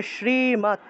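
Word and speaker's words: শ্রীমদ্: এখন সংস্কৃত উচ্চারণের নিয়ম হলো হসন্তযুক্ত দ থাকলে সেটাকে হসন্তৎ হিসেবে উচ্চারণ করা হয়ে থাকে। যারা সংস্কৃত ভাষায় কথা বলে তারা এই হসন্তযুক্ত দটাকে তারপরে হসন্তযুক্ত ত যেটা আছে এটাকে ততরূপে উচ্চারণ করে। তাহলে শ্রীমত এভাবে উচ্চারণ হবে।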